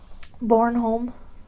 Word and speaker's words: Bornholm: the Danish island of Bornholm what what was it called born home born home born home bo r n h o LM sounds nothing like it's spelled alright no he uh